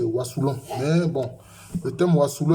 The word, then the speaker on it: Wassoulou: Bon, il a dit que la meilleure prononciation c'est wasouon mais bon le thème wasouon a était tellement retenu.